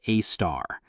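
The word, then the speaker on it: Sagittarius A*: At the exact center of our galaxy, radio telescopes detected a compact source called Sagittarius A asterisk, pronounced a star.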